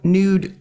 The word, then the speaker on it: Newd: Tell us about Nude Clothing, and that's spelled NEWD, right?